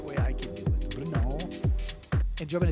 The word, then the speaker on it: Brno: I'm not sure whether this is pronounced correctly, but this is the way I can do it. Brno.